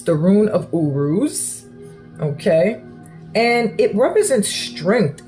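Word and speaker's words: Uruz: this is your room so this room is pronounced Urus it's the Rune of Urus okay and it represents strength and Triumph all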